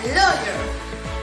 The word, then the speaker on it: lawyer: Lawyer podría decirse de la siguiente manera. Se pronuncia lawyer. Lawyer. Se pronuncia esta palabra, lawyer. Muy bien.